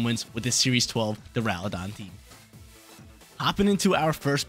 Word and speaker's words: Duraludon: Final Pokemon on the squad is the boy, the one and only DURALUDON, or some other people pronounce it DURALUT or DURALUDON. I say DURALUDON.